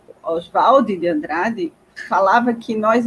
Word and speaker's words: Oswald: Oswald de Andrade, tá certo?